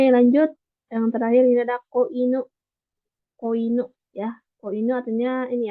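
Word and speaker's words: 子犬: Jadi kan ada ya cara bacanya ko gitu ya. Jadi kalau misalkan kalau inunya aja kan itu anjing aja. Tapi kalau ditambah ko ini ya kanji kecil yang cara bacanya ko inu itu baru anak anjing.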